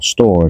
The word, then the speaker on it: Stour: It can go up the Stour Valley, which would be quite nice, or Store as we call it in Suffolk. It's spelt the same way but said differently.